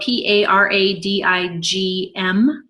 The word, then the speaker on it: paradigm: a paradigm is spelled PA ra di GM and it's not two dimes it is a paradigm or your belief system